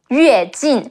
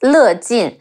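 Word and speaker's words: 乐进: name was pronounced as Le Jin. Master Lei Jin. Actually, this character could be pronounced both ways as a surname, but in China, he's always known as Yue Jin.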